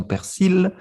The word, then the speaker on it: persil: Dans le sud, par exemple, nous disons persil, et dans le reste Oui. de France, ils disent le persil, ils ne prononcent pas le L.